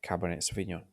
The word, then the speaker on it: Cabernet Sauvignon: Um, the, the pronunciation sounds very much like you speak like a France. Okay? So yeah, Cabernet Sauvignon.